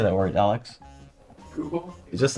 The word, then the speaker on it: Google: Oh, I think it's more like goo, like you say the G-O-O first. Google. How do you say that word, Alex? Google?